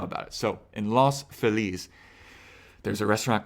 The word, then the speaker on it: Feliz: atmosphere it's home in Los Feliz Phillies however you pronounce it I say Phillies because Feliz Navidad you don't say Feliz Navidad you say Feliz in the song that's just all I know about it so in